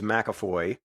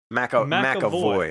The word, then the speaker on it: McAvoy: Been modestly excited about one, but he's got this new movie called Split coming out, where it appears James McAvoy. Did I say his name right? McAvoy.